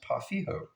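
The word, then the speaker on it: pau ferro: would call um, uh, Pafero in the States. This one guy, his name is Marco, who told me that it's pronounced Pafijo.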